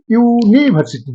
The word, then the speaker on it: यूनिवर्सिटी: गलती से भी यूनिवर्सिटी के बोले एन नहीं लगाएंगे, वॉवेल तो जरूर है, ये उच्चारण है यूनिवर्सिटी, यूनिवर्सिटी, ई ऊ दोनों एक साथ आ जाता है।